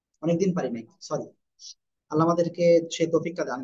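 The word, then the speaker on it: ث: ওকে, তাহলে আমরা যেটা শিখতেছিলাম, সবাই আমাদেরকে খেয়াল করেন। জিব্বার আগা, এই দুই দাঁতের আগে লাগাবো, লাগিয়ে হালকা বাতাস বের করো, বের করে জাস্ট একটা আলিফ টানিয়ে আমরা উচ্চারণ করবো।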